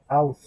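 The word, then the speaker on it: aus: না না, এই যে এ এবং উ যদি একসাথে থাকে, আ উ, এর উচ্চারণ হয়ে যাবে আও। এটা হচ্ছে কি আও।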